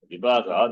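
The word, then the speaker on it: vibhāga: Not Bhaga, Vibhaga. Bhaga is different, Bhaga is different. If Bhaga is pronounced as Bhaga, then it's a problem. Bhaga is Ishvara. Sixfold virtues are called Bhaga. Bhaga is different. That is why the long vowel is important.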